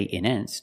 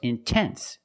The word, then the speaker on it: intense: I put the stress after the nt. So I have to pronounce a T. I cannot say in endance. No, it's intense.